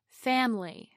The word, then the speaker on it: family: Now let's look at the word family, with its three vowels of A, I, and Y. The stress is on the first syllable, fam. Over time, the vowel I relaxes so much that we drop the whole syllable and turn it into family.